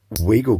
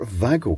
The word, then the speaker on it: Wago: And we can use this suitably trashy Chinese Wago clone, or Vago clone, if we want to pronounce it correctly.